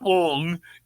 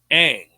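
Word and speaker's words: Aang: It's not Ong, it's Ang.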